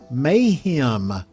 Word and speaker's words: mayhem: new word is Mayhem Mayhem how do we spell that phonetically and how do we say it may like maybe the month May and then him as opposed to her him now again if you